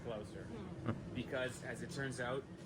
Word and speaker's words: Gloucester: guys to know that I know how to pronounce Gloucester. I think a lot of people would guess Gloucester. I'm 90% sure it's Gloucester.